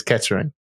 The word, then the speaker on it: Kettering: in the UK in a little town called ketron all right and you can tell because we don't pronounce our T's properly okay so most people are looking as Kettering um I've been uh